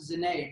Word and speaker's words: zene: But, I went with my first name, and lo and behold, Zene is, in Hungary it's pronounced Zene, but it actually means music.